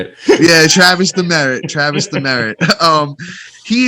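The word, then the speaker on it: Demeritte: up that's how you say it yeah travis the merritt travis the merritt um he is only six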